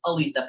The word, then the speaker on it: Alisa: It's Alisa, people. Alisa. Lisa with an uh in the beginning.